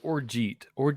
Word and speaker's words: orgeat: There is like a fruit, like what is orgeat? Orgeat, or it's technically pronounced orgeat.